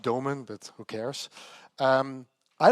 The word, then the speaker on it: Doomen: Uh yeah I'm from the Netherlands. Actually it's pronounced DomenA but who cares?